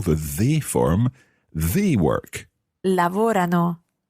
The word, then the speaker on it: lavorano: Lavorano. Lavorano. I'm not 100% sure where you're stressing that, Isla. Remember, it's lavorano. Lavorano. Bravissima, Isla. It's tricky to get that stress right in the they form.